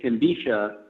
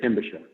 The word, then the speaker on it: Timbisha: were actually right, because some of our people pronounce it Timbisha, and some of our people pronounce it Timbisha. So I think the preferred is Timbisha.